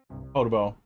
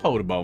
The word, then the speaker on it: Podoboo: I like Podoboo more. But I feel like with 2 O's at the end, it's got to be Podoboo.